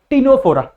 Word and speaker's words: Ctenophora: में ए रहा होगा इसको प्रोनाउंस कैसे करना है सबको पता है ना सी इसे साइलेंट ठीक है सी को प्रोनाउंस नहीं करना है ऐसे की नायडू फौरन ही पुराण करना है कहानी पे भी जाके ठीक है तीनों फोर क्या ये प्रोनाउंस करना है इसको तीनों फोर सी इसे साइलेंट जैसे हम आइडिया में साइलेंट रखा था ना वैसे इसको साइलेंट रख दो मिटाना नहीं